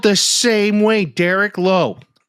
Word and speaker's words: Lowe: Or Brandon Low. L O W E. That's low. Okay, let's ask how to pronounce Brandon Low. L AU rhymes with now or plow.